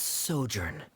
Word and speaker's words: sojourn: Director Zosimos, how do you pronounce this word? She's okay. It's gonna be hard. Let me see. Ah, that's sojourn.